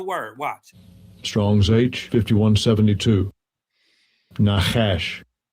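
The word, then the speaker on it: נָחָשׁ: Well, let's pronounce the word. Watch. Strong's age 5172. Nahash.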